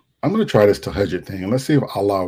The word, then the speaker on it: Tahajjud: I called it Tajahun. I know how to pronounce it. So Tahajjud.